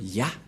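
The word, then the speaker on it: יה: Cette forme se prononce Ya. Voilà ce que nous avons vu tout à l'heure.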